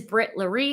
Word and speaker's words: Brit Larry: YouTube handle which is Brit Larry if you don't know how to say it it's my my name is Brittany my limit my middle name is Larry so I just smashed it together because I was just